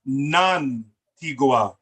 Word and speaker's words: Nantigua: So it's pronounced Nantigua. Nantigua. Nantegua. Nantigua. Okay. In Nuwaubik, there are no silent letters. In Nuwaubik, there are no silent letters. Every letter must be pronounced.